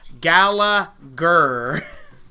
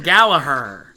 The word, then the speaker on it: Gallagher: is telling me his the way you pronounce his name is gala gurr thank you Gallagher so Debbie TVs pronouncing it wrong yeah they're calling him gallaher well but I'm not